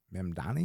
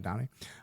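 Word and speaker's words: Mamdani: Zaran Mdani, is that how you say it? Zoran Mdani. Zoran Madani.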